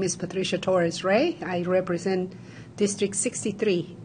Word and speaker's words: Patricia Torres: I begin to my immediate left from District 63 in Minneapolis, Senator Patricia Torres. Am I pronouncing that correct?